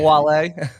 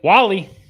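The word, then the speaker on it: Wahle: It's not Wale. I'm sure you get that a lot. Wally.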